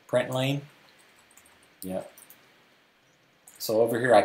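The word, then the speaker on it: println: I pronounce it like lane, I don't know. Print lane?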